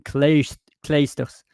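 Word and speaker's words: Clijsters: IJ, it's not ij, like some French were mixing that in saying like Kim Kleisters. No, it's not ij, it's a. It's Kim Kleisters.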